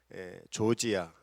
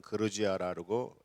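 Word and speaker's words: Georgia: 있는 지역이 있는데, 거기가 조지아, 옛날에는 이제 러시아 말로는 그루지아라고, 요새는 이제 영어 발음으로 해서 조지아라고 하는데, 거기 나라에 모여서 선교 대회를 했습니다.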